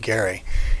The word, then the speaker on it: Gerry: Last name is pronounced Gary, and he was the governor of Massachusetts in 1812.